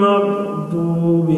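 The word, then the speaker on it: الْمَغْضُوبِ: এখানে আরেকটি বিষয়, মাগদুবি এখানে দতের উচ্চারণ জত না হয় আর দত না হয়, অর্থাৎ জয়ের মতো উচ্চারণটা জয়ের মতো হবে না, আবার দয়ের মতো হবে না, মাঝামাঝি। গায়রিল মাগদুবি আলাইহিম ওয়ালাদ-দাল্লিন।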